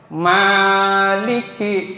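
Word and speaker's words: مالك: ada di sini ya Maliki. Maknya mad thi. Maliki bukan Maliki. Maliki. Ki kap Maliki ya. Yang hebat ngucapin Maliki Prabowo Kap tuh. Dengerin kalau ngucapin. Kemudian ada satu lagi apa? Sby coba dengerin kalau ngucapin tapi bukan huruf Arab ya bisa gitu. Kalau ngedengar ada kira-kira kaf itu ada ka itu kedengaran kedengaran itu nah itu dia ma bukan promosi ya. Maliki yau harus lembut ya.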